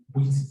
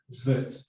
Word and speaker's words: Wits: I hear you saying Wits, actually, we pronounce it Wits University.